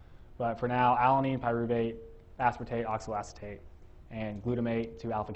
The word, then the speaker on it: aspartate: And uh aspartate rhymes with oxalloacetate.